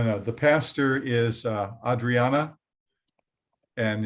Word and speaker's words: Adriana: go Randy no no the pastor is uh Adriana and it's spelled uh you pronounce it Adriana but it's